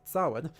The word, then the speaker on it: Samhain: Sin approximately pronounced sin is a Gaelic festival tradition occurring on the